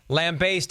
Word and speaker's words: lambast: By the way, our friends at Merriam-Webster, lambaste and lambast, both appropriate and accepted pronunciations of Except lambaste.